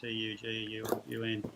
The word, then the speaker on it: Tugun: Yeah, the only thing Tugun there, you just got to change it. It's got no R in it. It's just Tugun.